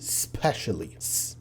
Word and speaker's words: specially: صوت هيطلع منها اللي هو س، فهتبدا تقول specially specially. لو خدت بالك انا ما قلت specially، وده النطق السليم بتاع ان انت بتقوله specially special